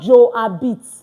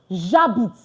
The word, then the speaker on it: j'habite: Please, it's not Joe habite. No. J'habite. Like ja and bit. That's all. J'habite. Because most times when students are speaking, we hear something like je habite. J'habite.